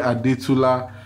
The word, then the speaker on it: Adetula: The series was executive produced by Olawale Adetula. Nico, pronounce A-D-E-T-U-L-A. A-D-E-T-U-L-A. Adetula. A-D-D-D. Yes, dog. T-U-L-A. Yes. Yes. Yoruba. I'm recording. Yes. There's no word like Adetula, but that's his surname.